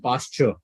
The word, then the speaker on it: pasture: Pastor and pasture. Because it is ture, you can pronounce it as ch.